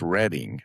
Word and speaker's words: Reading: says reading and everybody laughed at me what I called it that because it's not called it's not pronounced reading it's reading reading railroad reading reading station